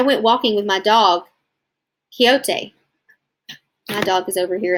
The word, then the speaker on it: Quixote: and read a little bit with me so Quixote which by the way is pronounced Quixote that's right I named him after the lead